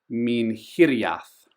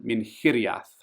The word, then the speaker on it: Minhiriath: Minhiriath. So, the stress often lands on the third last syllable, but sometimes the second last. That's typically what happens in Sindarin. So, Minhiriath.